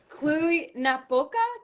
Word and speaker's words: Cluj-Napoca: You are the mayor of, I'm pretty unsure if I pronounced this correctly. Give it a go. Cluj-Napoca?